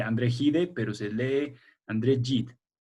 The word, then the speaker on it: André Gide: Se escribe André Gide, pero se lee André Gide.